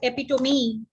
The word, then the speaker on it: epitome: why you write double c how do you pronounce this this is called epitome this is called cache this is called gauge